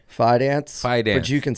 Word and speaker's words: Fidance: Fance. Fance, but you can say Fedance.